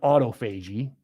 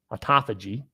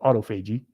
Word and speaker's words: autophagy: It looks like autophagy, but you know how these words are. It's, I think, correctly pronounced autophagy, which I used to call it autophagy because I'll read it how I read it.